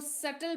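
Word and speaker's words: subtle: बी टी एल आई सेटल नहीं पढ़ेंगे इसको सेटल पढ़ते हैं क्या पढ़ते हैं सेटल क्योंकि यहां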